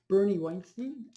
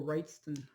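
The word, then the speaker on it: Wrightson: And Bernie Weinstein. And it's just or Wrightston.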